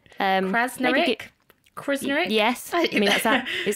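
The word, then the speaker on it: Krznaric: Now, this first one is going to be embarrassing because I don't know how to pronounce the guy's surname. So there's a really brilliant philosopher called Roman Krasnarik. Krasnarik? Krasnarik?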